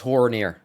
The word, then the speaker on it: Haranir: Guys, it's Haranir. Quit correcting me. I'm saying it right.